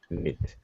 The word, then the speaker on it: knit: silent just like knife the K is silent nit knit okay yeah this this